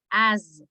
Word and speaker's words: as: pronunciation of this word the pronunciation of this word is like if you do as as it is as because if you say the pure s you are saying another word we know